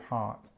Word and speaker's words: heart: long R change of heart um we don't pronounce this R so say heart it's